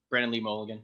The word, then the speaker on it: Brennan Mulligan: Brennan Mulligan, is that how you say his name? Yeah. Brennan Lee Mulligan.